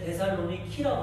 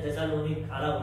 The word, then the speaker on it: 데살로니키: 현재 지명은 그리스에 있는데 데살로니키라고 그럽니다. 우리는 데살로니가라고 그러는데 데살로니키, 때로는 데살로니카 이렇게도 표현해요. 발음들이 다 틀리기 때문에.